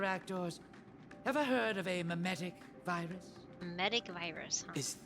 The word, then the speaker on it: mimetic: Humans naturally have a curiosity for the unknown, and mimetic viruses take advantage of this. So it's mimetic. I always thought it was like saying. I thought it was pronouncing it like meme-tic, and I'm like meme-tic